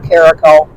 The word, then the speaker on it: Caraco: they say it right nobody ever says it right when I go to a doctor's office I don't listen for Caracol I listen for any variation of Caraco so when they actually call Caraco I don't answer because I don't can't believe that they're actually saying my name right so it's it's kind